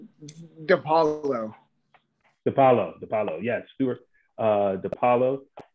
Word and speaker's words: Dipaolo: Did I pronounce that right? Say that one more time. It's Dipaolo.